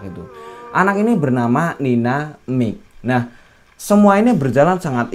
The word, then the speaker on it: Mijk: Ini adalah versinya Nina Mik. Tulisannya MIJK ya, bacanya ya Mik gitulah ya.